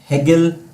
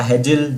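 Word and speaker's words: Hegel: Very good, George Wilhelm हेगल या हेजिल, जो भी इनका प्रोनाउंसिएशन होगा, जर्मन फिलोसोफर थे ये।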